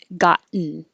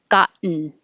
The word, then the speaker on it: gotten: We don't say the T's in gotten, we make gotten. So it's a situation where the N is after the T and they're both in the unstressed syllable. So when you say got and your tongue goes up there for the T, got, and then you just make the N noise, gotten, gotten.